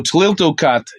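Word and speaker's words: Tliltocatl: All right, so Tliltocat is how it's pronounced.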